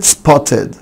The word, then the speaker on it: spotted: طيب الكلمه اللي بعدها كلمه spotted spotted spotted. وانا بعد التا ساوند الاي دي بتنطق اد عادي جدا.